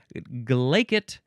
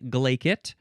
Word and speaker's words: glaikit: me one would be glacet which is foolish and giddy and you have to say it with a Scottish accent.